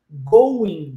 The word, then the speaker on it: going: pegando what's going on Olha que interessante a palavra Going nós temos um uma nova letra que é muda aqui que é a letra g a última letra g dessa palavra Going ó Going você para no n tá você vai parar